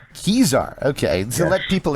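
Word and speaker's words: Kesar: It's Caesar with a K. Caesar, okay.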